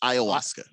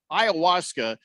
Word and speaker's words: Ayahuasca: uh that hallucinogenic again I always say it wrong it's Ayahuasca Ayahuasca uh so I guess